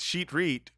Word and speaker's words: Shitrit: Mayer Ben shitrit I I'm not going to pronounce this correctly I'm sure it's sheet Reit but his name is spelled shitrit uh and he was